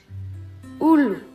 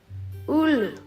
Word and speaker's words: ulu: U is pronounced like U in boot. Ulu. Ulu.